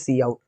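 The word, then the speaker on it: cout: see out freely right the pronunciation obviously is see out now int main this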